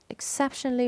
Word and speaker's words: exceptionally: exceptionally resistant. Where is the stressed syllable? It is the second syllable, CEP.